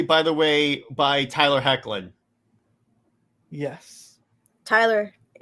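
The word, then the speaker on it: Hoechlin: the way by Tyler heckin yes Tyler there's an o in there that's how it's pronounced that's how I've heard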